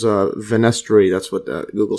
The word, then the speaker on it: fenestrae: I'll just search how this pronounces. Alright. And let's see this one. Fenestra. Goes back to the fenestra. So, venestri. Yeah, so I just had to Google this one. So this is venestri.